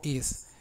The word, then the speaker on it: is: Y luego is. Ese is, esa S última se logra haciendo vibrar un poco la boca. O sea que no es s.